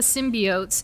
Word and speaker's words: symbiote: And so the thing about the symbiotes is that...